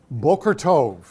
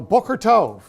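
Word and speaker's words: בוקר טוב: it's morning and what they say is bulgor Tov that's think of it as be okay er T o V bokor means morning tove means good so Booker Tov very good the other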